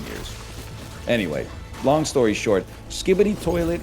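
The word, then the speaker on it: Skibidi Toilet: Anyway, long story short, Skibbity Toilet is a is that how you say it? Skibbity Toilet, yeah.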